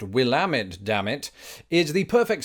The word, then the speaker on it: Willamette: that last one which I'm reliably informed is pronounced Willamette Dam it is the perfect segue into today's